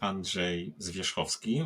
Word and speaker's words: Andrzej Zwierzchowski: people on this planet so my name is Andre zovi which is hard to pronounce to many people and it's always a